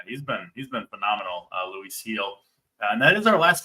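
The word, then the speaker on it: Luis Gil: m going Luis heel that's fair it's it's Luis heel and uh he also he might be uh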